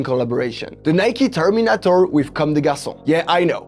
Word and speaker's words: Comme des Garçons: The Nike Terminator with Comme des Garçons. Yeah, I know, it's an advantage to be French when you have to pronounce the name of the brands.